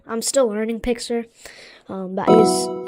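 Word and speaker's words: Pixlr: I use Pixler. I'm still learning Pixler.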